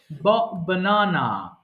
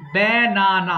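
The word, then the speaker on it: banana: এবার বল বানানা বানানা আমরা কি বলি ব্যানানা না বলে ওরা বিদেশী কি বলে বানানা অর্থাৎ বটাকে ছোট্ট একটা ইতে রাখে ওকে এইযে দেখ আমরা বলি বানানা বলোনা বটাকে আমরা ব্যা বলি আর ওটা শুধু বানানা ওকে আবার বনানাও না বানানা কিন্তু আকারটা অনেক ছোট করে বলে বানানা বানানা বানানা তারানে এইযে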